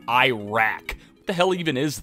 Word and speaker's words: Iraq: And as long as the topic is still fresh in my memory, it is pronounced Iraq. That's how they pronounce it there. It's not Iraq.